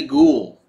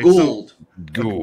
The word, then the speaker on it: Gould: call him Baron no his name say it right damn it his name is Daddy ghoul okay gold according to Daddy Gould